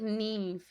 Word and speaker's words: Niamh: It's like Neve in Irish, but it's spelled Niamh.